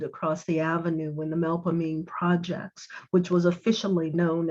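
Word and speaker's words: Melpomene: sound as an old the final syllable is a lean stressed syllable in which the e is long as in mean years after i left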